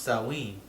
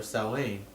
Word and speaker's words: Samhain: It says pronounced Samhain or Samhain, about which little is actually known.